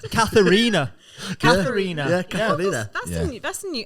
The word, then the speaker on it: Katerina: I would have thought you'd got the first bit right, Katerina, because everyone always says Catherine, Katrina.